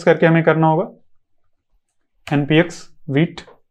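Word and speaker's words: Vite: From wheat server, और इसको wheat बोलते हैं, कुछ लोग वाइट बोलते हैं, लेकिन इसका प्रोनाउंसिएशन वीट है।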